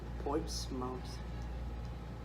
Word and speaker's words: Portsmouth: So it's spelled mouth, like our mouth, but it's pronounced Portsmouth.